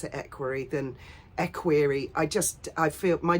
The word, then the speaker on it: equerry: Harry, or as an equerry — I prefer to pronounce it equerry than equerry. I feel my dad always said equerry, my mum always said equerry. I prefer to say equerry.